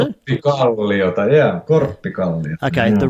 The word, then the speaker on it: Korpiklaani: Is that how I pronounce it? Korpiklaani, yeah, Korpiklaani.